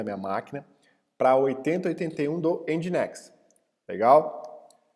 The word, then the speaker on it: Nginx: Outra coisa, pessoal, é Nginx, tá? Vamos falar certo, não é Nginx, Ngix, alguma coisa assim. Pronúncia certa, Nginx, tá?